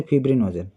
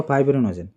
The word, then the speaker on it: ফিব্রিনোজেন: এখানে আইটাকে ই এর মতন উচ্চারণ করতে পারো। আই এর মতন উচ্চারণ করতে পারো। যেমন ঠিক হয় না। তোমার ডাইরেক্টর আর ডিরেক্টর একই রকম সেরকমই। তো ফিব্রিনোজনও বলতে পারো। ফাইব্রিনোজনও বলতে পারো।